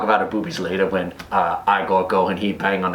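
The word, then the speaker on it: Igor: he me eagle now it's pronounced I go but they told me it was eagle well they were wrong name weren't they they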